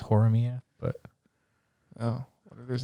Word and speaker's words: Horimiya: But I could use its I guess it makes sense because it's Hori-san and Miura-kun, so it's Horimiya.